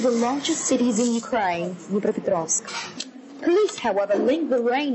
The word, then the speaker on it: Dnipropetrovsk: So, the Dnipropetrovsk, oh my god. Can we Google the pronunciation of that or something? It's Dnepropetrovsk.